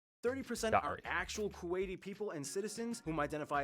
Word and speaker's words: Kuwaiti: you call these people kuwaitis not kuwaitian not kuwaitian not kuwaitanis Kuwaiti all right first of